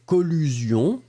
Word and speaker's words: collusion: Alors, regardons ensemble, c'était le B et c'était collusion, d'accord? Vous l'écrivez C-O-L-L-U-S-I-O-N. Alors, on va faire juste les deux. La première chose, collision, collision, I-I-I-I, collision. Et la deuxième, collusion, collision, collusion. Encore une fois, collision. Collusion.